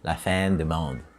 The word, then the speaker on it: La Fin du Monde: Yeah, that's how the Quebecois say it.